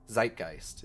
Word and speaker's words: Zeitgeist: connected to the Z the Zeitgeist Zeitgeist is the word that's how it's pronounced um someone's got their